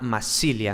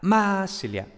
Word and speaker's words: Massilia: en la primera sílaba entonces pasaría a massilia y como claro había tan un acento tan grande en la primera sílaba ya luego las sílabas siguientes pues se descuidaban un poco y por tanto la a se transformaba en y no entonces massilia entonces